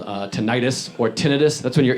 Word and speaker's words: tinnitus: It's pronounced tinnitus.